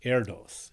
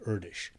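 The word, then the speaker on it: Erdős: long time said mistakenly Aeros uh because it's um leaving out the so-called diacritic marks you know little dots and dashes and check marks and stuff over the letters the the name is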